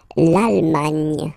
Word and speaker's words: Allemagne: Remember this G, N, E. It can be quite tricky at the beginning to produce, I mean, the sound, nye, okay? But really, you should work on that because it's quite, well, it's not coming all the time, but it's not rare. I mean, the sound is not rare in French, okay?